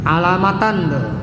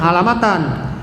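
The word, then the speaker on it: علامةً: Hazil auzanu tusamma al af'al al khamsata wa takunu an-nunu allati fi akhiriha alamatan. Nggak boleh alamatin, nggak boleh alamat, bacanya alamatan.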